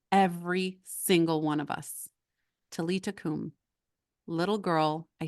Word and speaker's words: Talitha koum: If you want to write it down, it looks like Talitha. It's Talitha Koum, 2 words, but it's pronounced Talita Kum.